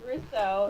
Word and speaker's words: Rosso: It's Rousseau. It's Rousseau. That's what I said. Rousseau, kind of like the guy from the Pink Panther. Like Rousseau.